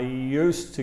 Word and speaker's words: used to: Fija también la pronunciación aquí, porque la pronunciación, mira, mira cómo le digo, cómo suena cuando hablo. I used to live in England. I used to live in England. Realmente no se escucha el de aquí.